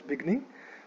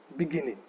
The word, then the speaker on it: beginning: The right way to say this word is beginning. It is beginning. One more time, beginning. ठीक है? So it is the second syllable that gets the stress.